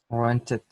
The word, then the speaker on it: rented: Rented. No rent. Ahí se pronuncia porque es con Yes. T y D. Rented.